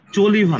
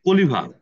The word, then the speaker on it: Choliva: হ্যাঁ, এটা কিন্তু চলিভা না, কলিভা। এটা চলিভা না, এটা হচ্ছে কলিভা।